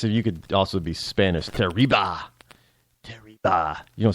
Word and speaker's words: Teriba: Well, here's this woman by the name of Annie Teriba. Uh, T E R I B- A and And if you want to pronounce it in a certain accent, it sounds like terrible.